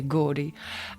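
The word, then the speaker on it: Gordes: to Google it um there's a place called gordi um um if you pronounce it GES g r d s but if you're French then you'll just say gordi and it's a monastery where they have a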